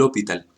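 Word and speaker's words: L'Hôpital: del hopital lo evitar así como se escribe con acento francés lo puntual de esta manera regla del hopital el a de este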